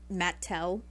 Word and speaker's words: Mattel: That's where Mattel comes from. It's Matt and Elliot. So, I guess we really should be pronouncing it Mattel instead of Mattel.